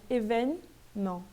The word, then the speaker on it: événement: Então, quando o E está no meio, está em uma sílaba que se encontra no meio da palavra, praticamente eu ignoro ele, né? Événement. Événement. Ok?